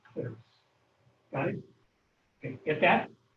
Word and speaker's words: clitoris: Sometimes that people pronounce that clitoris, but it's actually clitoris.